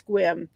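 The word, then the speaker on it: Sequim: I don't know if I'm saying it right, but I think it's Squim.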